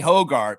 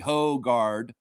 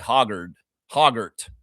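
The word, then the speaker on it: Hoggard: You know, there's two different ways to pronounce AJ Hogard. It's AJ Hogard, by the way, Hogard. And the Americans down south want to call him AJ Hoggart.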